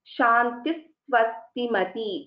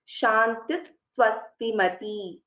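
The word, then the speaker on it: शान्तिः स्वस्तिमती: But if I am pronouncing them together, Shantis Swastimati, the Sa should be heard before the second Sa.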